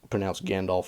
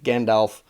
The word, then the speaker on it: Gandalf: And I get a lot of critique on how I pronounce Gandalf from people who are technical about it, because it should be Gandalf, not Gandalf.